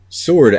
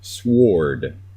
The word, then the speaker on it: sword: at word and sword sword actually has a W right after the s so if you were pronouncing it phonetically it would be sward but you don't say